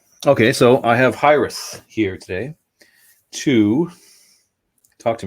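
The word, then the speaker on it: Hiraeth: It's Hyrith.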